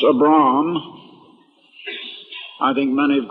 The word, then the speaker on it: Abram: When God called, his name originally was, I believe it should be pronounced Abram.